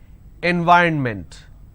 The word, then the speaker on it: environment: it's extra all right environment n y run meant so this is the correct pronunciation environment and the mistake that you end up doing is you end up pronouncing n v ron mint now this is wrong it's not environment it is environment so please make sure